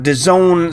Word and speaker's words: DAZN: this review to zone I know it's spelled funny Daz and I guarantee you they say that spells the zone I'm not sure how